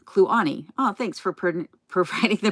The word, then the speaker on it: Kluane: Yes, it's Clune, or I'm not sure how you say it. Kluane National Park. Then it's pronounced Kluane. Kluane.